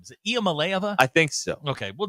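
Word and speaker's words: Iamaleava: Is it Malaya?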